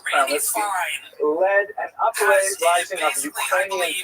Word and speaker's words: Khmelnytsky: this man, Bogdan Khmelnytsky, sometimes horribly mispronounced Chmielnicki because that's the Polish spelling with an American pronunciation, but the actual pronunciation is Chmielnicki, led an uprising of Ukrainian peasants against their Polish overlords.